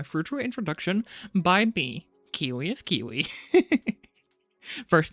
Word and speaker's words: Kiui: It's pronounced, like, Kiwi, like, ew.